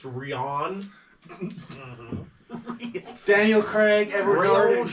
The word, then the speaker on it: Rian: pronounced Rian.